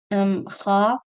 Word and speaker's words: خ: Kha. So you have to pronounce them with isti'ala, raising the back of the tongue, and the middle forms a pit.